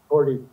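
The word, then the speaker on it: Korte: Is that the correct pronunciation for her last name? Cordy.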